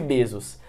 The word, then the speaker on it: Bezos: e você vai e se compara ao Jeff Bezos. Ou Jeff Bezos, né, que é a pronúncia.